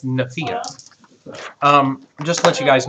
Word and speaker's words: Nephia: He's been pronouncing it this whole time, Nephia. I can't find it. It's Nephia.